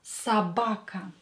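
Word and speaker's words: собака: to change it but this o is not stressed so pronounce it as a garage again or not stressed pronounce it as a Sabaka Sabaka and let's add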